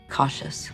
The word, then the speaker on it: cautious: Cautious. Here, this word is a little bit strange. We say cautious. The first syllable is pronounced like ka, ka, ka, and here we have shes.